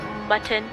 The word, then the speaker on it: Mutton: I shall, Mutton. Your name rhymes with button.